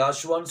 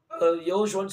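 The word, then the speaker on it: יהושע: ஒருவேளை நீங்க இதுவரைக்கும் யாஷுவான்னு சொல்லிட்டு இருந்தீங்கன்னா யெகோஷுவான்னு சொல்லி மாத்திக்கிடுங்க, அவ்வளவுதான், ஒன்றும் பிரச்சனை இல்லை.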